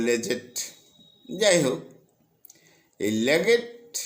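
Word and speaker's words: Leggatt: জাহাজের ক্যাপ্টেন যার নাম লেগেট ল্যাগেট এল ই ডাবল জি এ ডাবল টি অপর জাহাজের ক্যাপ্টেন এই অপর জাহাজের যে ক্যাপ্টেন অর্থাৎ দ্বিতীয় জাহাজের যে ক্যাপ্টেন লেগেট কে উচ্চারণ করে লেজেট যাই হোক এই লেগেট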